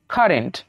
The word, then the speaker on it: current: CURRENT, উচ্চারণটা কি হবে? সির পরে যেহেতু ইউ রয়েছে, তাই এখানে একটু সনা হয়ে কি হবে? ক, কারেন্ট। তারপরে দেখুন CURROY, এটা কি হয়ে যাবে?